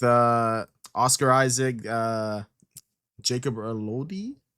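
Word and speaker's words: Elordi: Uh Jacob Lordi. How do you say his last name? Lordy. Lordy. Lordy.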